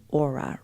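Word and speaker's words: Oura: with you and the first one is the aura ring which is spelled o u r a i have had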